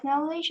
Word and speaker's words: knowledge: rapidly to maintain your knowledge and abilities uh and a role in continuing education not knowledge that and the how is this word pronounced this word that was allison knowledge k isn't pronounced yeah at the end